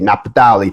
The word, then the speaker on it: Naphtali: If you are from the tribe of Naphtali, however you want to pronounce it, I'm going to say it the way you're supposed to say it, Naphtali.